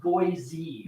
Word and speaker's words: Boise: think it was just the dollar store it's pronounced Boise Boise it is Boise I've been saying boys Idaho wrong we would pronounce that as boys